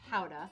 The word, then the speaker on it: Gouda: do the chicken aged gouda that has been aged between 12 and 18 months made from Rock Gouda origin of gouda which is actually pronounced hauda young gouda tends to